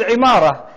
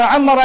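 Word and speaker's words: عمارة: They say imara or amara in Arabic when you build a building. Imara is a building. Urdu speakers also know imarat. They change the pronunciation, but it's the same word.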